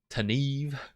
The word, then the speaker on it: Tanev: T-Nev is ready. T-Nev or like Tanev? Do you have a preferred pronunciation? Tanev.